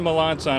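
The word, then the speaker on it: Melançon: I'm Captain Ken Melanson of the Harris County Sheriff's Office.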